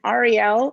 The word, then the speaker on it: Ariel: know my name is ariel and you can think of the letters r-e-l that's how i like to remind people to pronounce it i say it wrong